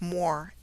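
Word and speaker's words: Muir: Moor, M-U-I-R, is pronounced Moor, M-O-O-R.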